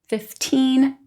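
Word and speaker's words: fifteen: What you want to listen for is that last syllable. You want to hear teen versus T, 15 versus 50. Also, you'll hear that the T sound in the teens sounds more like T, 15.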